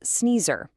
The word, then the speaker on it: Ceneezer: By the way, that's pronounced Sneezer.